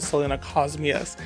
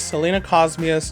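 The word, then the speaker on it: Selenocosmia: And I just realized I've been mispronouncing Selena Cosmia. I've been calling it Selena Cosmias, but it is Selena Cosmias javanensis sumatrana.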